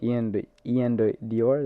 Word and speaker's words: Ian Dior: Do you guys know Ian Dior?